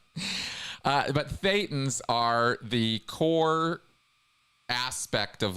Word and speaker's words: thetan: by the way that it Rhymes so closely with Satan uh but thetans are the core aspect